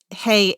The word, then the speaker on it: hei: you mentioned W and I'm going to spell that it's hey HEI not Hy breath of the Walk